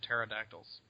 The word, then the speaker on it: pterodactyls: he keeps calling them pterodactyls he's like the p is silent actually no one was